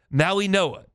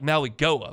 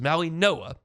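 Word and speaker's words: Mauigoa: Maui Noah. It's It looks like Maui Goa, but it's Maui Noah.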